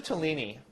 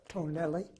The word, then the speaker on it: Tonelli: others present are Mr Newt and Thomas Smith running the camera and nwana is also present Mr toini what made you want to join pronunciation is tonelli oh sorry what made you